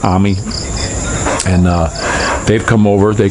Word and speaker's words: Amy: It's A-M-Y, Amy, I would say, but I believe it's pronounced Ami.